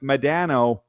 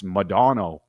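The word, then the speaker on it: Modano: We've been saying Mike Madano. Apparently it's Madano.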